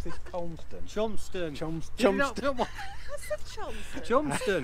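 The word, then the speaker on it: Cholmondeston: How do you pronounce this? Colmston? Chomston.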